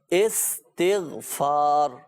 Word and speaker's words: استغفار: اچھا صحیح تلفظ میں عرض کر دوں، بعض صحیح تلفظ نہیں ادا کر پاتے نا، استغفار بولتے ہیں. تو ناظرین صحیح تلفظ ہے استغفار، یہ صحیح تلفظ ہے استغفار.